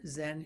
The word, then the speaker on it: Zen: a monk in Korea, where Zen is pronounced Son. In China, of course, it's pronounced Chan. And we take the Japanese way of pronouncing it Zen because it's easier for us to pronounce in English.